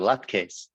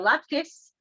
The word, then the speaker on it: latkes: people call it Luckys and some people call it lat case um I think it just has to do with where you're from and what your accent is so laptops uh is the Yiddish pronunciation lock keys are the American pronunciation and in Hebrew they